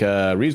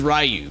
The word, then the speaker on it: Ryu: Apparently it is Ryu, but I don't see it, man. I don't see it. I mean, it's the Japanese pronunciation Ryu. That means dragon.